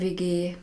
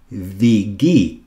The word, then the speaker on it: WG: Wie viele Leute seid ihr in der WG?